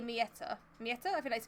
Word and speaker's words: mięta: Like, we say mint, they say mieta. Mieta? I think that's how you pronounce it. Mięta. Mięta.